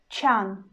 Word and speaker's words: чан: And the word чан, чан, чан, чан. You see, I pronounce ч in a soft way, and then I pronounce а.